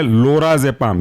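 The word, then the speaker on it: lorazepam: जेड ई पी ए M next example है लोरा जपाम ये भी हमने देखा एल ओ आर ए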